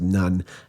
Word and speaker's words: Nun: His name is pronounced Nun, N-U-N.